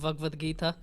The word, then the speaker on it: Bhagavad Gita: It's Upanishads and Bhagavad Gita, but the way we pronounce it in our country will be different than how people pronounce it in the South Indian.